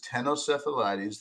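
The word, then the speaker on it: Ctenocephalides: name right this is tenos seales the sea is silent and then if it's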